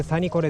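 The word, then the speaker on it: Sanniquellie: 綴りは長いけどこれでサニコレって読みます。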